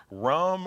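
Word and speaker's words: rhum: The R-H-U-M, rum, is how you say it in French, and Okay. then Ron, R-O-N, is how you say it in Spanish.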